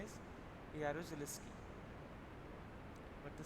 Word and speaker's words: Jaruzelski: The government led by General Jaruzelski, Jaruzelski. The spelling starts with alphabet J, but the pronunciation is Y. Jaruzelski imposed martial law in December 1981. The pronunciation is Jaruzelski, but the spelling is starting from J.